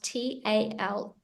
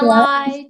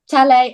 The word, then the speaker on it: Talei: When you see it written on paper, it's spelled Talei, but I've had that really throws up some interesting pronunciations. So I've had yeah. Talai, Talei. So it's I'm at the point in my life I answer to almost anything starting with T.